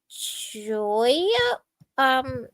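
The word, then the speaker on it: joyeux: this Jane yes Jane you've seen the word B A Y O U right b a y o u b a i uh yes yeah you've seen by you've seen signs that say by you just think of it with the j instead Bayou. It's Joyu. Joyu.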